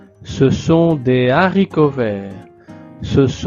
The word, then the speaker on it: haricot: l'article D, le S, normalement on fait la liaison mais ici avec le mot haricot, il n'y a pas de liaison.